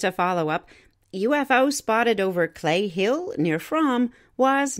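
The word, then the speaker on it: Cley Hill: Located at the edge of Longleat Estate in Warminster, Clay Hill, that's spelled C-L-E-Y Hill, has long been thought of as a hotspot for UFOs.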